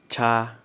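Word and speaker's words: 叉: for number one we have Fork Fork is pronounced as cha cha cha cha that is now number two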